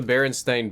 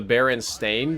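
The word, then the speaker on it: Berenstain: to start with the baren stain bears and I'm pronouncing it strange on purpose because apparently the book series that we all know and love is known as the baron stain Bears s a i n but I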